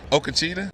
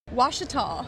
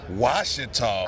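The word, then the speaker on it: Ouachita: Remember, silent letters. Silent letters, but then the letter makes something different than what it's supposed to be.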